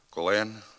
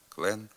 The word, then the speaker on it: клен: флейта холера шлейф ювілей на надністрянщині у Галичині та на деяких прилеглих територіях звук л перед е та и вимовляється дуже твердо при його вимові язикове тіло сильно зосереджується в задній частині ротової порожнини піднімаючись трохи до м'якого піднебіння клен Лебідь клин млин така дуже тверда вимова